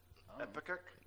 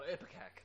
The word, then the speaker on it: Ipecac: Epicac? Oh, Ipecac. Ipecac. Okay, I can't pronounce it. It's Ipecac.